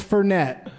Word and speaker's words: Fernet: sit there drinking my phoney Blanca and it's Fernet it's how it's pronounced I found out later he just made